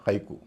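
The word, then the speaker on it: haiku: इसके अलावा जापानी शब्दों में भी ए आई का उच्चारण आई होता है। जैसे बोनसाई या हाईकु।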